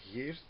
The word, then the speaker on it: Geert: A lot of people have trouble with the G part and the rt, and you have to grow up speaking Flemish or Dutch or Afrikaans to pronounce it.